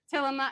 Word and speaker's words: Tillamook: Some organites saying it's Tillamook.